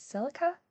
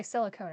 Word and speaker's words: Silica: Klein, Osna, Agil, Liz, and I never say her name right. Silica. Oh, I got it. What? I always want to say silicone, and I'm like that is not it at all.